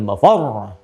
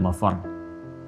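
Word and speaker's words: مفر: insanu yawma idzin ainal mafar. Mafar ada tasdidnya tuh. Ya, ainal mafar. Ada tasdidnya, makanya bacanya juga bukan mafar. Awas. Ya, bukan mafar.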